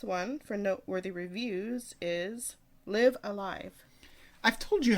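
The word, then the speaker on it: Live A Live: Next one, and the last one for Noteworthy Reviews, is Live Alive. I've told you how to pronounce this Live like 5 Alive?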